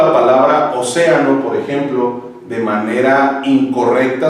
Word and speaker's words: océano: La sílaba tónica de la palabra océano es la antepenúltima y la subrayamos en color rojo.